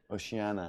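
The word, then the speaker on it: Oceania: Apparently it's Oshi. Oceana. Pronounce Oshi like you would at the start of the word ocean.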